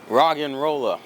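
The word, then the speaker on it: Roggenrola: pronounce his name and it's supposed to be a play on words it's like rock and roll because he's a rock type which is a really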